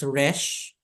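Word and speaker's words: ריש: And then, of course, Resh, as in Robin.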